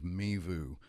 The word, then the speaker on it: MeVu: Kevin kwang-ho he's a CEO and co-founder of mibu Kevin did I pronounce everything correctly yeah thank you on the